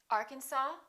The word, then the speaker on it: Arkansas: cupboard my kitchen cupboard silent s arkansas illinois island debris all right one more